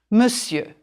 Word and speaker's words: Monsieur: words miss you now draw a diagonal line through letters that you don't hear Monsieur M okay oh okay and shall we cross it out yes the S is fine and the IE you are - you can draw a line through the air the R to remind you not to say it voila try this